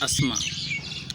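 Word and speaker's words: asthma: alcohol होता है मतलब अ जो अस्थमा होता है लेकिन उसका उच्चारण वास्तविक रूप में क्या होता है असल में होता है अस्थमा अस्थमा का मतलब क्या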